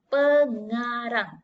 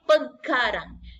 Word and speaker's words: pengarang: Asal dia sebenarnya pengkarang. Sebab dia mengkarang. Tapi untuk sebutan yang betul dalam bahasa, dia jadi pengarang.